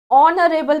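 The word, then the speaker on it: honourable: आई मेट ऑनरेबल पढ़ा जाता है, इसमें एच साइलेंट होता है तो ये वॉवल साउंड कर रहा है, तो यहाँ पर आएगा एन।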